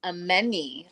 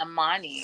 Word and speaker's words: Amani: Ameni. I've been saying Amani. It's Ameni. Well, it's spelled Amani, so I think that we made a reasonable mistake.